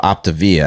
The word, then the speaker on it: Optavia: It's actually called Optavia.